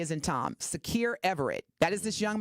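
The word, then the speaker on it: Sakir: the GoFundMe link for Secure. His first name is Secure. That's spelled S as in Sam, A as in Apple, K as in Kite, I as in Indigo, R as in Richard.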